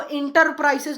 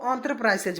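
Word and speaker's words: enterprises: ठीक है, अब देख लीजिए, साहस, एंटरप्राइजेज, इसको इंटरप्राइजेज नहीं बोलेंगे, इसको एंटरप्राइजेज बोलेंगे। ठीक है, इसकी प्रोनाउंसिएशन एंटरप्राइजेज है, इसको उद्यम या साहस बोलते हैं।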